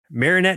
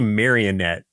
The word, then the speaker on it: Marinette: Ev, okay, so for a short synopsis, Marinette and Adrien, I keep want to say Marionette because of the way it's spelled.